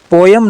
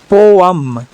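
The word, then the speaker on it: poem: ध्यान रहे इसको हमें पोएम नहीं बोलना है। इसे हम बोलेंगे पोयम पोयम ना कि पोएम पोएम नहीं बोलना है। पोयम बोलेंगे।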